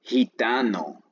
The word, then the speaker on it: gitano: En español a veces esta letra suena como J, como cuando dices gitano. Suena como J, pero se escribe con G, gitano.